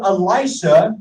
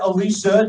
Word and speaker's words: Elisha: So we look at Elijah, and he comes to Elisha, or Elisha, depending on your pronunciation or your pronunciation.